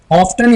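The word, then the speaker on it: often: ही ऑफ्टन, ऑफ्टन या ऑफन दोनों में से आप कोई भी प्रोनाउंसिएशन का इस्तेमाल कर सकते हैं।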